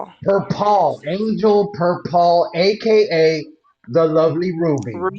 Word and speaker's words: Perpall: My guest today is Angel Persol, right? Is that how you pronounce it? Per Paul aka the lovely Ruby.